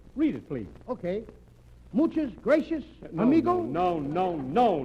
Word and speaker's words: gracias: Muchas gracias, amigo? No, no, no, not gracious. That word is gracias. You see, in Spanish the C is pronounced th.